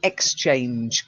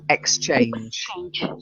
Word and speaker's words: exchange: don't change cards they exchanged cards you got to get the X on the front exchange exchange that's it means he